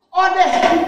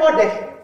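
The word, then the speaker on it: אודה: Odeh, ini bacanya odeh.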